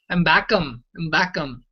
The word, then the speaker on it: Habakkuk: Habakkuk in Greek, they pronounce that as Mbakam, which is very different than Habakkuk.